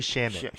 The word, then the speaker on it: Shamet: Landry Shamet.